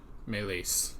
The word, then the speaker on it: Meleys: I'm gonna go and look and see what the actual pronunciation is. I won't leave Meleys Alright. Meleese. That was it.